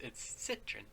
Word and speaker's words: Citroën: I also did like the way he stressed the word Citroën. It's Citroën.